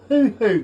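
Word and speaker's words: huhu: Have you ever heard of the hoo-hoo grub? No. Okay, and this is spelled H-U-H-U.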